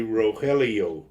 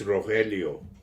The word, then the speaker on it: Rogelio: I understand that because if you say my name in English people say Rogelio no I just say git um I've gotten that a lot of times and I say it's Rogelio yeah that's my real